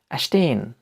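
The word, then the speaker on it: stehen: এসটি এর উচ্চারণ হচ্ছে ইস্ট মতো, ইস্ট, ইস্ট, বা স্টার, স্টার। এস্টে এর উদাহরণ হচ্ছে অ্যাস্টেন, অ্যাস্টেন, যার অর্থ হচ্ছে টু স্ট্যান্ড, টু স্ট্যান্ড, বা দাঁড়িয়ে থাকা, দাঁড়িয়ে থাকা।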